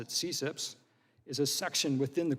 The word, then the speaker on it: CCIPS: and intellectual property section which is abbreviated ccips and we pronounce it at cips is a section within